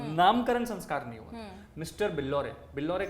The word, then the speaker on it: Billore: Mister बिल्लौरे, बिल्लौरे का spelling है BILLORE।